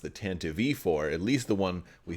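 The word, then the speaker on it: Tantive IV: it as the tantiv four but it's actually pronounced the tan to v4 at least the one we see in episode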